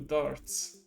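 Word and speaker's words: Dartz: this name like it's he's named after a pub game basically but that's his name and that's how they pronounce it too darts he's trying to resurrect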